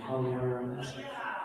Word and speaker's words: Pagliaro: David, you even got the Italian pronunciation, Pagliaro. That's very good.